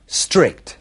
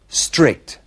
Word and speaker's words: strict: Strict. Comienza directamente por una S y a los españoles les cuesta mucho pronunciar esta S inicial. Strict.